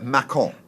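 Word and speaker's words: Mâcon: It's spelt Macon. You see, because of the wine in France is M-A-C-O-N, Macon. But they all said Macon. I said, Macon is Macon, surely. No, Macon.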